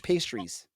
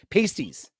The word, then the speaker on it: pasties: uh buffalo wings or Cornish pastries or sorry pasties pasties Cornish pasties pasties yeah I gotta say it right I apologize I apologize for mispronouncing it Thanksgiving dinner or Christmas